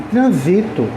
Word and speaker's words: transito: antivo aquele caos trânsito e transito é do verbo transitar eu transito por vários lugares aí o a sílaba tônica já é o z né então eu quero